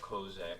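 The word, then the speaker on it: козак: that we brothers are of kozak kin meaning cossack as we pronounce it so that's the answer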